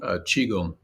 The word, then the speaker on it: Qigong: Qigong.